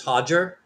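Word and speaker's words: Rigan: um um I think the correct way to pronounce his name is Hajger, right? Even though it looks like Roger, but Hajger Machado, who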